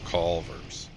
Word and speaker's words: Culver's: You gotta say it like Culver's. Culver's.